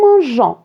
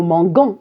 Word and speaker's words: mangeons: À la première personne du pluriel, nous mangeons. Alors regardez, j'ai ajouté un E. D'accord? Si je n'ajoute pas le E, ça va se prononcer nous manguons et c'est faux.